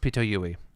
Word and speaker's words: Pitoyui: I believe it's pronounced Pitoyui. Based on the Japanese transliteration, it should be Pitoyui.